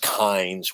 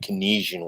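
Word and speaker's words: Keynes: of those things pines i know his name's pronounced kinds why do i keep saying canesian when i talk about his economic philosophies okay now the thing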